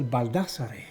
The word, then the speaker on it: Baldassarre: I say Baldassarre. Baldassarre. Baldassarre. But in Italian we say Baldassarre.